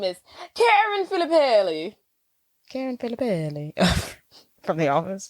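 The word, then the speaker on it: Filippelli: my name is Karen filipelli Karen belly from the office yeah why' you say it like that because she's Italian on the show she supposed to be Italian that's in reality she's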